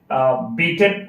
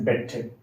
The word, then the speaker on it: beat: Sorry, beaten or married. Now here, it's beaten. Look at the example. She beat James last night. Here, most of the students pronounce it as a bet. It's not a bet.